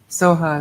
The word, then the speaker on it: soha: Soha is the Tibetan way, and sometimes it's sweet to do it that way.